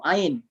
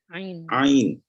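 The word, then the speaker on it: عين: Ain. Mantap, muntas. Ya, mantap. Ain. Itu Ain. ya, jangan ain. Bergetar tuh ngorokannya ya.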